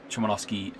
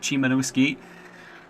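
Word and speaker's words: Szymanowski: going to let uh schwallowski sorry completely mispronounced that and complete didn't read it properly how are we pronouncing that sorry adam uh chimanowski i don't think he's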